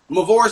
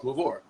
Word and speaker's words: Mvore: know, I just assume that people know because I introduced myself as Mvore. I'm Mvore. Right. I don't not Mvore.